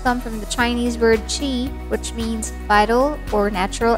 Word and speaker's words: Qi: it's not pronounced as key or gree like cheese without the s sound it's said to come from the chinese word qi which means vital or